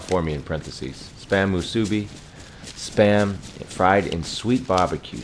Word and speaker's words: Musubi: Java's favorite food combo, the odd food combo, Spam Masubi? Is that how you say it? Oh, you even Musubi. You even spelled it out for me in parentheses. Spam Musubi.